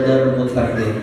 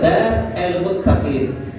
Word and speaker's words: Darul Muttaqin: Darul Muttaqin bisa dikerenkan juga Dar El Muttaqin, bisa.